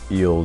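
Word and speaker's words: ils: and it's pronounced eel just like the singular form.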